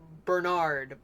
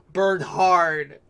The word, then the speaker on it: Bernhard: And based on his name, like, his name was pronounced Bernard, but he likes to be pronounced Bernhard. As in, like, Bernhard!